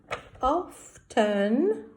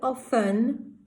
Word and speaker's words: often: In England, some people say often, they do not pronounce the T, and some people say often. So I thought it would be easier for you to say often, so we say often, okay?